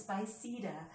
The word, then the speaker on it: Spiceda: people notice that spicy this X this is spicy de and so it's like I just didn't feel